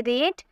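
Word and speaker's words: read: रीड, यानी कि पढ़ना, बट इसके सेकंड फॉर्म देखने में सेम लगता है, लेकिन इसकी प्रोनाउंसिएशन अलग तरीके से की जाती है। हम बोलेंगे रेट, रेट, रीडिंग, रीड्स।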